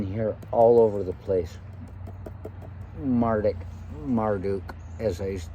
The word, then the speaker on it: Marduk: This young man, he said, and he pronounced it, and he said, you have to roll the tongue. And I said, Marduk.